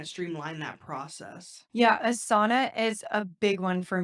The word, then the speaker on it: Asana: before and someone's like I don't understand how Asana like sauna like a hot room is helping you so